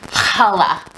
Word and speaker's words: challah: for a bakery and you pronounce it challah for Halle for those of you who